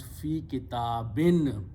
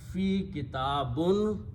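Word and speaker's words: في كتابٍ: So you have to pronounce fi kitabin. If you pronounced fi kitabun, you are speaking the wrong Arabic language.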